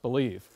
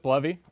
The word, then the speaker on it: Bleve: bovy what is this I thought it was pronounced believe uh and i' every I would say 5050 people I run into pronounce it bluy or believe uh I pronounce it bluy uh but anything you want to pronounce it